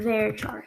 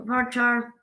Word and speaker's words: varchar: what we call a very char so um some people pronounce their varchar i say very true um and this